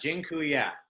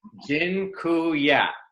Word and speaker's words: dziękuję: And dziękuję. By the way, I just taught you all a Polish word for thank you. It's dziękuję.